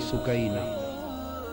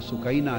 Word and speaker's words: سکینہ: لخت جگر شہزادی سیدہ سکینہ، اصل نام ان کا عربی وزن میں سکینہ ہے، عرف عام میں سکینہ چلتا ہے، اصل لفظ سکینہ۔ سیدہ، میں عرف عام کا